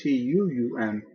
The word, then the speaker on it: tuum: Remember, it's not tuum, T-U-M, it's T-U-U-M, tuum. Pater noster qui es in caelis sanctificatur nomen tuum.